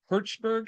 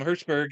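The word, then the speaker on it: Hjortsberg: And it's written by the screenplay is written by William Hertzberg, I think is how you pronounce his Hortzberg, last yeah, name. Hertzberg, yeah, Yep. that's correct.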